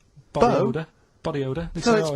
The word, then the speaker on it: B.O.: Like rain is the weather, and it smells like body odour. Body odour. No, it's B.O. It's B.O. That's It's pronounced B.O. B.O.W. Well, yeah, but you've got to play. It's not pronounced bow, and it's not spout bow.